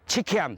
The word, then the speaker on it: 七崁: 客家話，所以他以客家發音就七坎七坎。